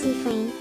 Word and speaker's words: Cifrine: For the character names and pronunciation, Cifrine, pronounced Cifrine, Mirabelle, Isabeau, Isabeau, Boniface, Boniface, and Odile.